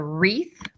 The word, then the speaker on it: wreath: Here's your WR again. It says R. This is a wreath you put on your